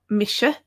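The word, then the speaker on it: mise: pronounced similar to hell SH is pronounced in English like in the word shampoo so a good example of this is Misha so here's a Misha that's how it's pronounced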